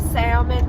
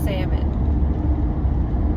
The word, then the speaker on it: salmon: And salmon versus salmon. I'm not gonna admit. Salmon is correct.